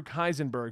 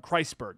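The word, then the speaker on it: Kreisberg: Creator and showrunner Andrew kaisenberg who brought in a few other I believe it pronounces the name wrong chrysberg that's it um they the original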